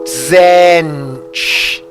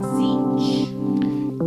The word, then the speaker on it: Zench: Yeah, you don't really pronounce the T. It's like it's like the Russian. Venom said Zench. Yeah, you could say Zench as well. Zench, Zench, but it's not like a full T. It's like a Zench, Zench.